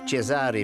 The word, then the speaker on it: Cesare: La compagnie minière belge « Vieille Montagne » a demandé à Cesare (prononcé : Che-sa-ray) Vecelli, un ingénieur local, de concevoir un système permettant de décharger directement les wagons sur des cargos.